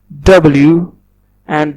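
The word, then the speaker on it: 我: So this is actually the Pinyin which I was talking about. I told you that a Chinese word is made of these three components. Now the first component is W, and W is the initial, and in Chinese we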